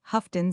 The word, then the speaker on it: Houghton: It is always pronounced Houghton, said Miss Pinniger.